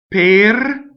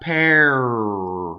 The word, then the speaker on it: per: Per, it doesn't rhyme with the fruit. Per, no. The R is its own position, coming from the A. Per. So your A, per, not pear, right?